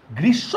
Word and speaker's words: গ্রীষ্ম: করি অথচ আবার দেখো গ্রীষ্ম শব্দের মধ্যে দেখো আমি ম এর উচ্চারণ করতেছি না আমরা কিন্তু গ্রীষ্ম বলি